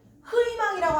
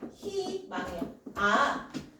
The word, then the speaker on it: 희망: 희망 흐이망이라고 하는 사람 본 적 있니? 얘들아 흐이망을 가자. 이런 사람 없죠. 그렇지 얘는 히망해야 자음이 연초 있을 때는 이로만 발음이 되는구나 이런 거죠.